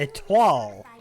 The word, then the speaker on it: Etoile: The Etoile class will be Etoile. Okay, so that's how you pronounce it.